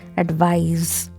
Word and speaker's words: advise: Letter S has Z sound, not S. So this is advise, not advice.